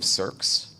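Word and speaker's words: SearX: maintain so I stood up a copy of circs is by escomm ooh it's spelled SE ARX it's an open source front-end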